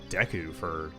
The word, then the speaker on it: Deku: Because I think I said Deku or Deku for most of my life. But I guess Deku is right, which I guess makes sense.